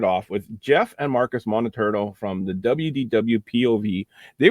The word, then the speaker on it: Moliterno: And someday you will get my last name pronounced correctly. I didn't get it this time. It was close. It's Moliterno. Moliterno.